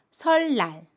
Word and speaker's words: 설날: 애니 옵니다 그러면 이 첫소리 자음이 은을 윌로 발음 해요 그래서 설랑 이 돼요 첫소리 자음 민을 리 일로 발음